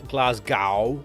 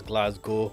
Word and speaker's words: Glasgow: It's Glasgow. Why? You know, I've never thought about how it's pronounced. You just kind of get used to it, but it is G-O instead of, even though it's spelled G-O-W.